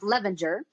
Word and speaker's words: Levinger: It's pronounced Levinger.